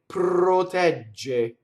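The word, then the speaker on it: proteggere: next line, you have 2 R's that touch consonants, both in sacro and protɛgge. So both of those R's roll because they're touching a consonant. Okay, and it doesn't matter what side the consonant is on. So that's the rule. Surrounded by vowel, it's flipped. Glɔria. Hitting a consonant, it rolls. Sacro. Protɛgge.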